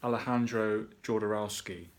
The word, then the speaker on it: Alejandro Jodorowsky: film that came out in 1970 as people pronounce this guy's name various ways I'm gonna give it my best shot Alejandro Jodorowsky now that's how I say it other people